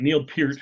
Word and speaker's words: Neil Peart: you say neil's name here curt you got neil peart who here he's a great drummer one of